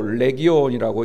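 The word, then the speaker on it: Λεγιών: 군대라는 말은 헬라어로 레기온이라고 읽는데요, 이 말은 로마 군대에서 쓰는 그런 단어입니다.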